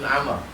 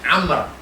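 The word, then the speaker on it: عمرو: Nah, kalau ada wawnya Amr. Tulis dulu. Tulis lingkari Amr. Tulis di atas. Kalau ada waw Amr. Kalau tak ada waw Umar.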